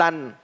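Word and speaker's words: لن: เนี่ย ลาม อ้า นูน ลัน มี ตัว ลาม มี ตัว นูน เนี่ย ใส่ สล อ้า ใส่ อะไร สูน อ่าน สะกด เข้า กับ ตัว นูน เนี่ย ลาม อ้า นูน อ่าน ว่า ลัน คำ ว่า ลัน เนี่ย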